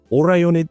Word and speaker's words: Orionid: And that's the Orionid meteor shower.